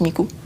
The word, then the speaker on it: Miku: Et donc, c'est le 3, 9. Et en japonais, en fait, ça se prononce Miku.